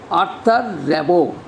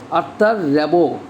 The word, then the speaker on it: Arthur Rimbaud: The pronunciation of this poet will be Arthur Rimbaud. Arthur Rimbaud. The full name of the poet is Jean-Nicolas Arthur Rimbaud. Jean-Nicolas Arthur Rimbaud. Jean-Nicolas Arthur Rimbaud. This is the pronunciation in French.